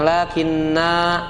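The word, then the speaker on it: لٰكِنَّا: jemah sekalian Allah mengatakan itu dibacanya pendek ya lakinuallah Jangan dibaca Pan Jangan dibaca panjang lakinna Jangan dibaca panjang tapi dibaca pen pendek Nah itu disebut tandanya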